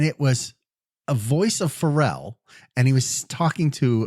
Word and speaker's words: Pharrell: Pharrell. Okay, gotcha. Yeah, I mispronounced it today, and the kids all laughed at me. I called it Farrell.